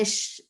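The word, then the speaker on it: shammes: And the shamish, which is how they used to pronounce it, was usually some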